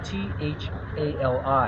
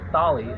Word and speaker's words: thali: It's spelled T-H-A-L-I. You don't really say Thali, it's Thali.